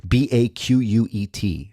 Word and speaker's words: baquet: It was French. B A Q U E T, pronounced baquet. The baquet was a 4-ft long oak tub filled with water, iron filings, and powdered glass.